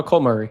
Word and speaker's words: Cole Murray: Here to MC this session we have our guest Cole Murray Morray. Is that the correct pronunciation? Uh Cole Murray.